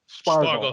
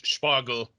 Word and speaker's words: Spargel: Spargel. Okay. So if you say Spargel. and then you say that you add like an H sound to the S and say it with the P as one sound.